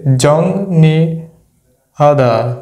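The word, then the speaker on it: 정리하다: এর পরবর্তীতে আছে রিউল তাহলে আমরা সূত্র অনুযায়ী যদি নিচে ইয়াং থাকে আর পরবর্তীতে রিউল থাকলে এই রিউলের উচ্চারণ আমরা এর মত করব তাহলে উচ্চারণটা কি আসতেছে জংনি হাদা জংনি হাদা জংনি হাদা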